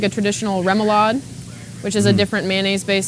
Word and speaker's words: remoulade: You can use like a traditional remoulade, which is a different mayonnaise-based sauce. Right. I just use an aioli that is flavored with fresh lemon and cracked black pepper and garlic. What would comprise a remoulade sauce?